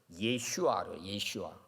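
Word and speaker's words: ישוע: 예수라는 이름이 있잖아요 예수 예수는 이제 히브리온은 예슈와 발음이 그렇게납니다 그리고는 이제 헬라어로는 구원자라는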